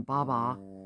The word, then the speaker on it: Baba: Oh, and then so Benny, I'd call him Baba, as in a baby bottle, not as in Bobby, the name Bobby, but Baba.